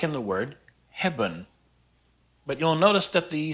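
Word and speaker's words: hebben: up with that well it falls in an unstressed syllable so we call it the mute e even though it's not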